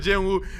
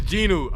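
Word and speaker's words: Jinu: Yeah, I said Jin Wu. You can't cap. He looks like Jin Wu. Is it Ginu? I forgot the pronunciation. I'm not going to lie. He Jin Woo for this video. It's Ginu.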